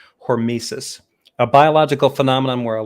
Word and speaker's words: hormesis: Pine Creek believes in Ormesis in what? Let me make sure I'm pronouncing that correctly. It's I believe the concept is hormesis.